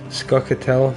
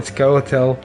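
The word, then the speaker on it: Scoia'tael: Jean said, fun fact, Skatel. I mean, Skoel. It's a hard word to pronounce, basically. Sometimes I just call him soccer tail. Squirrels pronounced a bit like squirrel tail and it Yeah, I think you're right, man.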